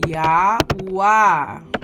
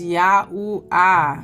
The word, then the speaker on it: Yahuah: Well, I didn't even spell it right. Yahwa. Okay? This is our father's name. Okay. His name is Yahoo A.